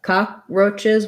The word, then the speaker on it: cockroaches: pronounce that um so cockroaches has first syllable stress um this is an ah vowel um uh cockroaches we don't really say much of that k cockroaches um i guess